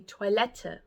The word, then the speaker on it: Toilette: say vol IST Di toiletta now toiletta is a French word originally which is why it almost has a w sound at the beginning okay I don't make